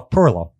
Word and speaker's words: Pirillo: do you say your last name again uh Perillo Perillo and so you the thing that you